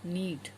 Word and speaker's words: knead: That process is called नीड. KNEAD. इसमें जब एन के आगे के होता है तो के साइलेंट है, तो यहाँ पे हम इसको नीड ही पढ़ेंगे, नीड.